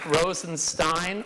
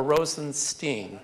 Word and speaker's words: Rosenstein: there's no right answer my family my father pronounces it Stine that's how I pronounce it but I actually have relatives who pronounced 16 so I answered either one all right you agreed